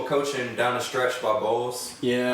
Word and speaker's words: Bowles: Obviously, you had the questionable coaching down the stretch by Bowles.